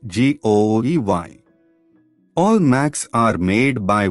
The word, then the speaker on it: GUI: computer with a graphical user interface or GUI pronounced g-o-e-y all Macs are made by one company Apple